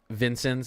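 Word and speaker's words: Vincennes: news watch a stream that's covering this it's pronounced Vincent Indiana sorry yeah I I mispronounced a lot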